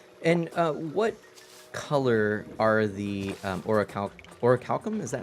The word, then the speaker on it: orichalcum: And what color are the orichalcum?